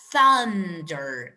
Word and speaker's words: thunder: Now, in this part, okay, the pronunciation of this word is thunder. Not thu, but rather thaw.